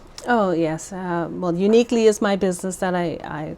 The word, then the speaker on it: Youniquely: Okay, and it's called Uniquely You. No, just uniquely. Uniquely. And it's spelled YOUNIQUELY.